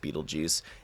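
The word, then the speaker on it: Betelgeuse: e yeah it's a different spelling but it's pronounced Beetle Juice and so is his gravestone it's pronounced it's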